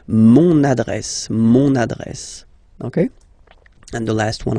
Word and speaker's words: mon adresse: you can hear now this little link, so you've got to pronounce this N, mon adresse, okay.